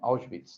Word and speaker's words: Auschwitz: En alemán, creo que la pronunciación así, ¿no? Auschwitz.